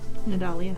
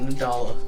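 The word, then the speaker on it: Nidalia: I-A. Nadalia. Leah. Not Nadala.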